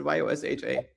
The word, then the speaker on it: Joscha: Yeah, so you pronounce it Yosha. It's a German name, so it has a German pronunciation.